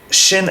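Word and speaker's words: שׁ: dots and therefore both shin and sin are the same letter and whoever is the torah needs to know how to pronounce it correctly shin is pronounced shay as in shape and sin is pronounced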